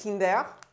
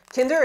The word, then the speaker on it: Kinder: the kinder chocolate so in french the brand kinder is pronounced kinder kinder again is that ferrero